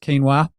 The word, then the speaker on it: quinoa: Well, I cannot tell a lie, Bob. It's pronounced quinoa.